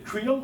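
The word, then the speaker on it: Creel: Et cette commission qui s'appelle Krill, ça s'écrit C R E E E L du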